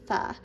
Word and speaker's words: pho: They pronounce pho as fa.